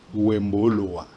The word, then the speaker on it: Wemboloa: prononcé à Lingala, mais dans ma langue maternelle, Ah ouais. qui est le tétéla, Le tétéla. parce que je suis naturellement sans-courrois, Ah ouais. et chez nous on dit Wemboloa.